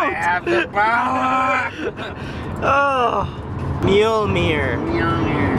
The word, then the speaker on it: Mjolnir: Mjolnir. Mjolnir. That's how you say it. You don't pronounce the J.